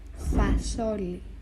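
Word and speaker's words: φασόλι: Next, we have fasoli. Fasoli. It means bean. Also, the accent is on the O.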